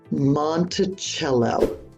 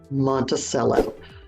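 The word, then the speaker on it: Monticello: into it number one monello monello not Montel for one it's the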